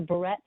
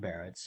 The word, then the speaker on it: Barrett's: in asking can uh barretts or barrettes go away am i pronouncing that correctly yeah um that's that's barrett's and um you know